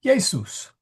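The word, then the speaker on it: Iesus: It makes a Y sound.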